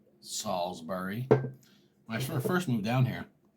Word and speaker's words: Salisbury: town you're in and I said Salisbury like Salisbury steak it's spelled the same way and just letting this country girl she said she laughed at me and she's like it's Salisbury and I was like whoa